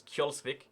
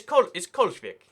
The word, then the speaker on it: Kjolsvik: It says Kjolsvik. It's Kolsvik.